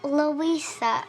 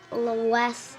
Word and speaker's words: Louisa: I miss a line it's pronounced Louisa not Lois oh what a ridiculous